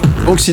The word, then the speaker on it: Banksy: Je prononce bien Banksy, c'est juste? Banksy, c'est juste, absolument.